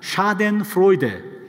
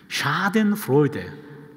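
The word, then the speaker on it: Schadenfreude: 샤덴프로이데. 예, 여기 신명원 목사님 잠깐 자리를 비우셨네. 예, 오리지널 발음을 좀 들을 기회가 있었는데요. 독일 분이 한 분 계셔가지고요. 샤덴프로이데.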